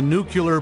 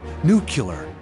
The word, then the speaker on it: nuclear: nuclear yeah I know new killer you did it again it's pronounced nuclear that's just what I said new killer yeah honey listen to me it's nuclear you're adding a you in there look I've got four